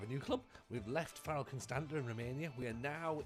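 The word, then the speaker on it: Raków: We are in charge, as I say, of Rakow. I believe it's pronounced Rakow. I've been led to believe it's Rakow, not Rakow, as I had before.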